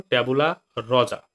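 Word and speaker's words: tabula rasa: উচ্চারণ দেখো, ট্যাবুলা রজা।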